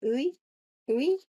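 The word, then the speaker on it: Yue: Summer, that's her first name, Uwe, I think, Y-U-E, I think it's pronounced roughly Uwe, is the director of alignment at Meta's Superintelligence Lab.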